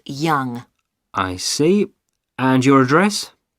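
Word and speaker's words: Yonge: your name yes it's young jh young that's that's spelled y o n g e that's young i see and your address 15.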